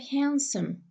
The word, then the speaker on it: handsome: have what we have handsome, handsome. See, the sound de is not pronounced. We say handsome. He's so handsome. I don't say handsome.